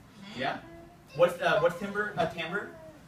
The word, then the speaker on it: timbre: So, the sounds that you hear when you describe that, it's called tamber.